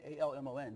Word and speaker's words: Almon: most people can't pronounce my name. Really? Just think about it. It's Almon, A-L-M-O-N.